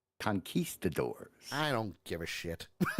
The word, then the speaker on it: conquistadors: Real quick, Western Echo says, my last comment for today is pronounced conquistadors. I don't give a shit. But he's been saying conquist.